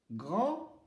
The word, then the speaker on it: grand: Si c'est masculin, le E ne se prononce pas et le D ne se prononce pas. Grand. Si c'est féminin, le E ne se prononce pas.